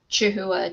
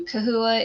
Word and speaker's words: Chahoua: So the reason that it switched from Chahhua to cahooa is just because of how it should be pronounced in the Latin that is used for like biological Latin.